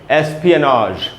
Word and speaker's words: espionage: इसको बोलते हैं दोस्तों, जो प्रोनाउंसिएशन होगा वो है एस्पियनाज। SP के बाद आधा है एस्पियनाज, एंड में जो ज है वो ज है, ज नहीं है, ज नहीं है, ज है।